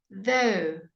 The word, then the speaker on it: though: Though. Again, your GH is silent.